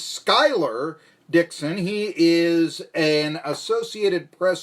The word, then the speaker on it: Schuyler Dixon: Now, I've been mispronouncing my next guest name. It is Schuyler Dixon.